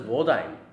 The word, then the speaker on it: Wodime: Oh, his name is pronounced as Wodime.